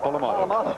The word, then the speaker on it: Polamalu: Polamalu.